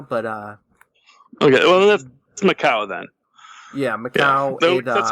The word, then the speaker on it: Macau: or territory I think it's near China it's m-a-c-a-u -m-a-c I'm sorry what's called a u m-a-c-a-u how do you pronounce it I would pronounce that Macau Macau